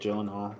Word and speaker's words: Gyllenhaal: Here's Jake Gyllenhaal, the actual Yes.